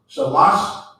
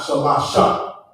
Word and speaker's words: shalash: So, but shalash is not shalasha, okay? It's just shalash, Or shot.